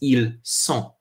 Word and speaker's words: ils sont: Whereas this is ils sont. We make that s sound with the s.